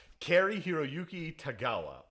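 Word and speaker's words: Cary-Hiroyuki Tagawa: I believe his name is pronounced Cary Hiroyuki Tagawa, or Cary Hanabam Flanawam.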